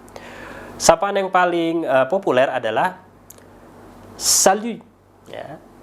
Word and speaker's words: salut: Sapaan yang paling populer adalah salut, ya. Salut. Ya, jadi huruf T-nya tidak diucapkan.